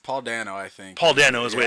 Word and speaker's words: Dano: Paul Dano is the way it's pronounced.